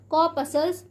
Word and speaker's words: corpuscles: तो प्यारे बच्चों, यहाँ पे जो ये है हमारा आर साइलेंट होता है, इसे क्या पढ़ते हैं? कॉर्पसल्स पढ़ते हैं, यानी कि इन्हें सेल्स भी कहा जाता है, लेकिन इन्हें क्या कहता है?